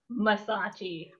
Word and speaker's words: Massachi: Mersace.